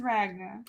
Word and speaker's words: Ragna: name titanium um ragna her name is ragna it rhymes with Titania in a way yeah she could have